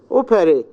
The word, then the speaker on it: operate: Operate. The stress in the first syllable.